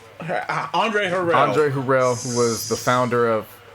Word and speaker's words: Harrell: This was like Andre Harrell. Andre Harrell.